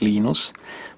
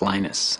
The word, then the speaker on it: Linus: Venus Torvalds came along Linus or Linus what's the exactly your preferred pronunciation um when I speak Swedish it's ainus when I speak Finnish it's Linus when I speak English it's Linus and I really don't